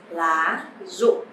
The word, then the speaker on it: lá rụng: But actually in Vietnamese, the sound R, you don't have to pronounce R or R clearly, but you just pronounce like Z sound, then it's fine. So lá rụng.